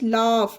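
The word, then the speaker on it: laugh: ए यू जी एच लाफ means हसना इसे भी जी एच को फा का उच्चारण दिया गया तो लाफ फा पढ़ा गया ई एन ओ यू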